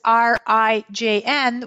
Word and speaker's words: Rijn: So this is RIJN, which is the last name of, drumroll, Jeffrey?